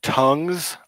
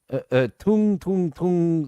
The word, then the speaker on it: Tung: Is it pronounced tongues a whore? Tung Zahor. Tung is Zahor, not tongue is Zahor.